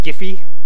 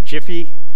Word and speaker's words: GIFI: has this great little acronym, GIFI, or Jiffy, depending on how you like to pronounce things.